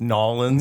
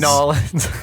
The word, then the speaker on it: New Orleans: You mean actually I think it's pronounced Norins. New Orleans.